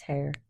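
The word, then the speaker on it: Haigha: His name is hair. He pronounced it as to rhyme with mayor.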